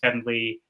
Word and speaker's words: heaven: Heaven is actually, for the most part in Shakespeare, pronounced as one syllable, as heaven. Same with even. Even is een.